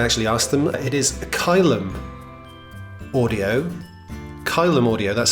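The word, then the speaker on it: Caelum: asked them it is kylem audio column audio that's spelled c-a-e-l-u-m and pronounced kai lum kylem audio um there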